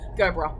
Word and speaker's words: Gerbera: Gerbera, yeah, that's soft G. Gerbera.